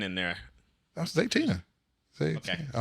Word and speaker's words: Zaytinya: Oyamel and Zaytina.